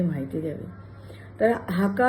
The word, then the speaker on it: Hakka: आहे त्याचा हाका म्हणजे इंग्रजी स्पेलिंग असं आहे एच ए के ए दोनदा के लावतात पण आपण उच्चार करताना फक्त हाका असं करतोय तर हाका चा अर्थ